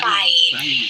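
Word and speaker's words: ไป: this BP In tha it's not P CH no not like that it has to be B sounds very strong BP sound but so this word is pronounced ah quite strong BP so by as to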